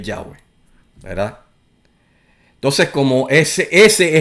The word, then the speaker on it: Yahweh: pues entonces eh eh aún así tiene su manera de pronunciar y su manera de pronunciar es es Yahweh. Su verdadera forma de pronunciar es Yahweh, ¿verdad?